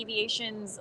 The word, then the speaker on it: Eviation: It's like electric and then aviation, and you smash it together. So Eviation. Perfect.